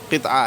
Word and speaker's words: قطعہ: قطعہ کہا جاتا ہے۔ بہت سے قطعہ بھی کہتے ہیں، قطعہ بھی کہنے میں کوئی حرج نہیں ہے، قطعہ بھی کہہ سکتے ہیں، لیکن صحیح تلفظ قطعہ ہے۔ جیسے آخر میں اپنا